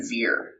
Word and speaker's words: zir: might see and then z zir um is how you pronounce that last one so you may see